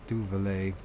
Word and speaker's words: Duvalier: Papa Doc Della Duvalieri.